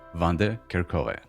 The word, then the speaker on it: Vandekerckhove: Please welcome Vander Kerkhove. Hi. Hey Shamil. Thank you for having me and congrats on pronouncing my last name correctly.